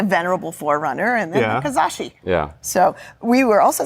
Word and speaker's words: Kizashi: Suzuki Kazashi. Yes, I pronounced it right.